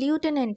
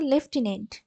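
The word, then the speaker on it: lieutenant: বলেছে স্পেট আচ্ছা এটার উচ্চারণটা কি অনেকে কিন্তু লিউটেনেন্ট করে না এর উচ্চারণটা হচ্ছে লেফটিনেন্ট আর লেফটিনেন্টে কোন এফ থাকে না লেফটিনেন্টে কোন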